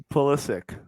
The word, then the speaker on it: Pulisic: Pulisic. Is that how you say it? Close. How do you say it? Pulisic.